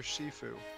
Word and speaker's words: Shifu: it's kind of bad it's pronounced master shifu did you hop on